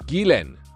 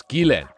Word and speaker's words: Ghislaine: I heard some people pronouncing Ghislaine Maxwell's name in the most fascinating way. Ghislaine, they said. Ghislaine. It's Ghislaine.